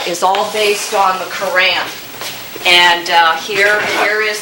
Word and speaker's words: Quran: if you're really smart you don't pronounce it that way you say Kuran supposedly and it's very difficult for me to say that uh this is composed